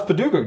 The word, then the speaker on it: Paducah: to him and you're like, hey, so how's Paducah doing? I was like, oh, that's how it's pronounced.